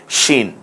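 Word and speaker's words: شين: পরেরটার নাম কি সিন উপরে যে তিনটা নুক্তা দেয়া হয় এই সিনে তাহলে হরফের নাম হয়ে যায় শিন শাক শীত শরৎ যে তলব্বস যেটা আমরা ব্যবহার করি সে উচ্চারণ হবে শীত যেমন সেখান থেকে শিন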